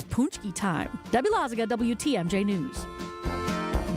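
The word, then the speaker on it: pączki: I'm getting corrected correct correct pronunciation is punchki not punch and it always goes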